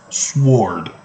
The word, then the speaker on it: sword: smoke and the sword remember it's pronounced sword shall devour thy Young